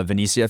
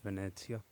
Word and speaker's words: Venezia: Honestly, Pablo, are you a big uh Venicia fan? Yeah. And I just wanted to u before you guys move on correctly, it's actually pronounced Venetia.